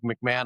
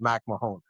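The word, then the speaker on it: MacMahon: And he said, "I'm fine with McMahon. I've been called McMahon forever, and now I'm at the stadium, but my name technically is Mac Mahon."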